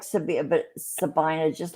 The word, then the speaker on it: Sabina: Washington Courthouse, Clarksburg, um, That means Sabina, that means Sabina.